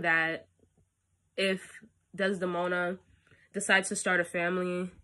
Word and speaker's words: Desdemona: do you say her name oh my god desdemona yes um his daughter am marrying the fellow